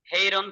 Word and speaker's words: Hieron: हेरोन, हेरोन, उसका pronunciation हेरोन कहते हैं, हेरोन।